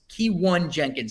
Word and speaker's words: Keyone Jenkins: Keyone Jenkins is how you pronounce it.